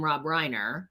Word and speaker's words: Rob Reiner: and I was like she better not mean Rob Reiner because that's actually how you say his name and because that man has been like a pillar in my whole life.